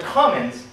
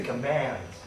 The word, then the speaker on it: commands: friends it's not the commons please don't pronounce this this word as Commons it's the commands all right I understand